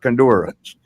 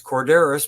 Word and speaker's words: Korderas: Yeah, I mean, like it's tough because it's a Greek last name and it doesn't sound very Greek.